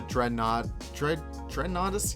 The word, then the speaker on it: Dreadnoughtus: Well, the Dreadnoughtus? Yeah, that's how you pronounce it.